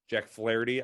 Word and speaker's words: Flaherty: old high school teammate Jack Flaherty, I believe that's pronounced. Yeah, Jack Flaherty. Yeah, because that little Irish flair on it.